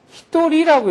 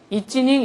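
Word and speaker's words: 一人: 한 사람은 이찌닝이라고 안 해요. 워낙 한 사람이라는 말을 많이 쓰니까 이것을 얘네들은 고유명사로 히토리라고 읽어버려요. 전혀 음가가 예상이 안 되는 음가로 읽어버려요. 그래서 한 사람은 히토리지 이찌닝 이렇게 안 해요.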